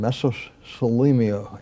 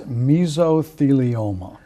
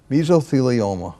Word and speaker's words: mesothelioma: Michael Serling who is the leading expert in mesos Selenia and I may have mispronounced it but let's call it meso law